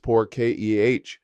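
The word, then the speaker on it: por qué: Why is poor K pronounced poor ke?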